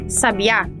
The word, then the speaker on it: Sabá: outro Episódio por fim o substantivo Sabá é uma oxítono Ou seja é uma palavra que tem a primeira sílaba com o acento gráfico no caso é o acento agudo em geral elas também